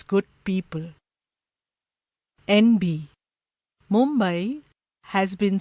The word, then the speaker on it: Mumbai: International television channels refer to the city as Mumbai, when it should be pronounced in its authentic Marathi way, Mumbai.